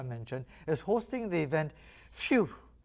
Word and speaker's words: PHEW: PHEW is how you say that, like, it's a kind of like a release or a relief kind of thing.